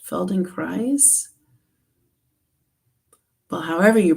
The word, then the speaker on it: Feldenkrais: Pamela says a long I in the Kreis part, Feldenkrais.